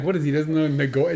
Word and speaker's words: Nicoya: Doesn't know Nagoya?